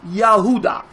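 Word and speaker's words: יהודה: you would say yahudah now how do you say Judah you would say yahudah that's what we also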